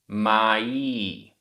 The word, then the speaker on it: माई: माई, बड़ी ई है, माई।